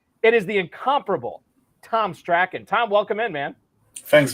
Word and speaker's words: Strachan: It is the incomparable Tom Strachan. Tom, welcome in, man. Thanks for having me, and I truly appreciate you pronouncing my name right.